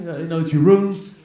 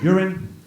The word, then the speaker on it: Jeroen: Jeroen. It's a weird spelling, so people often pronounce it as urine.